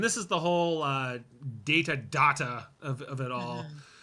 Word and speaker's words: Data: data look at this data what my name it is pronounced data oh you called me data what's the difference one is my name the other is not yeah I love that